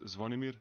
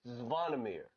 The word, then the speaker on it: Zvonimir: Pronounce just your first name. So my first name is Zvonimir. Zvonimir. Zvonimir. All right, say it with me. Zvonimir.